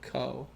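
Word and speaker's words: Kou: Is it Ko or Ku? I forgot. Number 1 and 2, the strength. Ko Ichijo and Ko. Okay, it rhymes with Po, I gotta remember that.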